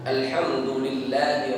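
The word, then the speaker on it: الحمد لله: ayat kedua yaitu Alhamdulillah cara membacanya di sini mesti hati-hati alhamdulillah di sini menggunakan huruf H Alhamdulillah jadi suaranya agak bersih alhamdulillahirobbilalamin Alhamdulillah Jangan dibaca dengan H kalau dibaca dengan hak Alhamdulillah orang kalau tidak perhatian terkadang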